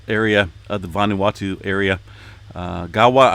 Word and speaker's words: Gaua: of the vanuatu area gawa i believe is how you pronounce that volcano in the vanuatu area